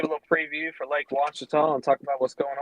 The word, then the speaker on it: Ouachita: So you pronounce it Lake what? Lake Ouachita. Ouachita. Jim, how do you call it? Ouachita.